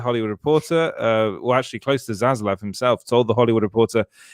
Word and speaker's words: Zaslav: Zaslav?